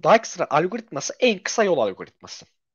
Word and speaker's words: Dijkstra: Şimdi arkadaşlar Dijikstra ya da Dijkstra diye telaffuz ediliyor sanırım. Biz de öyle telaffuzu uyalım. Dijkstra algoritması en kısa yol algoritması.